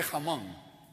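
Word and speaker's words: Hmong: to her so tell me who are the Hong and she goes goes it's m the age is silent he goes oh whatever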